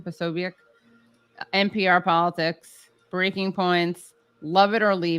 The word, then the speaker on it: Posobiec: Posobiec.